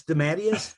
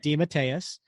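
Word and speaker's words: DeMatteis: you should say that did he say it's dadus he says uh when we had him on the show he said it's de matus okay but don't worry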